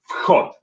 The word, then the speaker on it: вход: So it's two syllables instead of one. When it's вход, it's one syllable. Вход, вход. And then when you say the second word, выход is going to be two syllables.